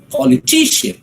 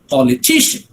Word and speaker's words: politician: you move ahead right when you say politician right the stress falls on the third syllable quality g there okay politician politician and the same way